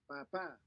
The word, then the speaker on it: papá: papá, And notice the stress at the end for the letter A, right? So it's more like papa.